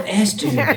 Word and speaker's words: Esther: Rhymes with Fester. Oh, Esther.